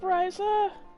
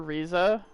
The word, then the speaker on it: Ryza: begin wait up ryzer don't be surprised if i slip and call her reza just because that seems like how it should be pronounced i know it's pronounced rise up but i didn't do